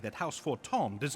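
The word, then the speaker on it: Fortemps: be said that house fort tom does not acknowledge the efforts of a rally that's pronounced for tom it was in the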